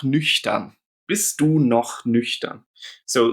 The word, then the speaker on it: nüchtern: And in the word nüchtern, it makes a sh sound.